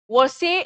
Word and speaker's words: Versailles: Okay, Versailles is the pronunciation, fine.